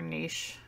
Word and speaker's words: niche: word for some reason I always say niche and I know that that's wrong I think people say it both ways like niche or niche yeah okay niche certainly